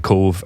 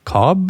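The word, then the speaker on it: Cobh: h and they were like cobb and they're like no it's cove spell it again i'm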